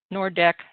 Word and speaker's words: Nordeck: jager bend drive to nord nordeck drive i believe it's pronounced and three nordec alley